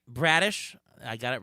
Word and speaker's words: Bradish: is it bradish or bradish how do you pronounce it uh it's bradish all right bradish I got it right uh where does he